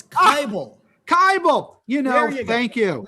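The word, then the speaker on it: Kibel: sharon moskowitz and bernice natalson today's guest seth cable am i pronouncing that right uh that's close it's bible kybel you know thank you like liable that's very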